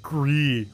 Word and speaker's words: Gris: It's pronounced Gris.